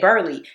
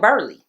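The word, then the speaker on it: Burleigh: And so, while I was researching this case, I kept calling this place Burlai County. And then when I heard somebody say it, they said Burley. And I was like, damn, that's probably why they be pronouncing it wrong when they in my city because around the world apparently they call it Burly.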